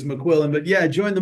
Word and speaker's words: McQuillen: It's a If you don't mind me saying it's McQuillin, but yeah, I joined the Marines in 199.